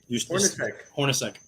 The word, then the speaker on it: Hornacek: Hornacek.